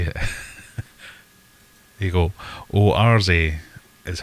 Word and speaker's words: Oase: Oase. Does anybody want to jump into chat and tell me how to say it? There you go. Oarze is how George Farmer...